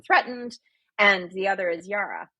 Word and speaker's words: yirah: And the other is yirah, y i r a h.